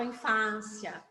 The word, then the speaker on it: infância: é o fá infância só que eu não falo infância é nossa infância porque ele tem o acento circunflexo e aonde é o que eu pronuncio com sou mais fechado né então infância certo